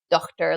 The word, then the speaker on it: daughter: For example, words with a silent GH like daughter, laughter, and slaughter would have been pronounced more like dochter, lochter, and slochter.